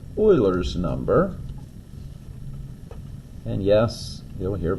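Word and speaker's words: Euler: um it's actually called Oilers number and yes you'll hear people say you R's number but it is pronounced like oil Oiler and it is an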